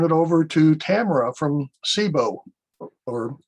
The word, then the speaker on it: CIBO: You can tell us how to pronounce it. It is CIBO, but great to be here. And I think if we were Italian, I think it would have a much bigger accent with it in the hand, right?